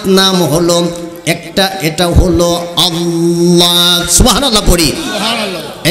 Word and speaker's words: আল্লাহ: নামটা হল আল্লাহ পৃথিবীতে দুটা নাম মুখের ফাকা জায়গাটা উচ্চারণ করলে পড়ে যায় বুকটা ফুলে উঠে এ নামটা হল আল্লাহ চিকুন কইরা হালকা কইরা পাতলা কইরা বাড়ি কইরা আনার কোন সুযোগ নাই।